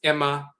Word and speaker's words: Amma: Amma is a title, but sometimes that name is pronounced instead of Amma, it's Emma.